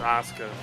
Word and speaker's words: Asuka: Like the U is silent. It's just Asuka.